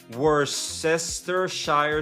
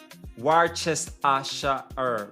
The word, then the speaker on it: Worcestershire: War chest a shire, but the H in shire is silent.